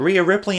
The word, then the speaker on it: Rhea Ripley: They were talking about Rhea Ripley on Women Who Fight, and I am pretty sure that MigD is going to be taking her on. Wonder what MigD thinks of Rhea Ripley, and if I can actually figure out a